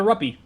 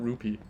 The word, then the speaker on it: rupee: whoops I got R money I got a ruppy yeah we've all been pronouncing him wrong by the way it's ruppy not rupe yeah no way that actually is rupee I